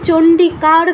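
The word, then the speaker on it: চণ্ডিকা: চন্ডিকার ধনাম এরকম বলছেন চন্ডিকা এর পরে যে রটা আছে এ রটা বলা যাবে না এই রটা যোগ করলে এটা বাংলা হয়ে যায় ঠিক আছে এই রটা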